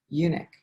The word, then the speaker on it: eunuch: witnessed to an ethiopian this is the word eunuch e-u-n-u-c-h i wasn't pronouncing it correct at all so grateful for